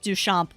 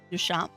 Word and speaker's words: Duchamp: Also, why am I not surprised that it's pronounced Duchamp? I'm probably still not saying it right, but that name sounds French, which means I will never pronounce it right, because for some reason,